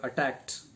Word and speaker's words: attacked: See here, attacked. The ed is pronounced as t, and tried, tried, ed is pronounced as d.